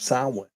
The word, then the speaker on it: Samhain: called the Festival of Samhain, or Samhain. Samhain is the way pronounce right. it. Yeah, it's not correct. Samhain is correct.